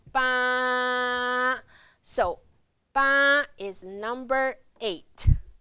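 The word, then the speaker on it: 八: So, eight, we pronounce bā. Remember the flat tone, bā.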